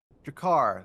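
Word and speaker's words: G'Kar: Jakar. Thank you. Yeah, I think that's how you pronounced it. G- K A R.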